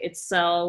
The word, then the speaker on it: Itzel: also very much like it's cell which is sometimes when i'm telling people this is how you say my name i say it's cell or it's cell with you know like selling something or itself minus the f and instead of an s it's a z um but then i